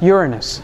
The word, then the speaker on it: Uranus: night sky in fact he discovered uranus and that's the correct correct pronunciation but he actually discovered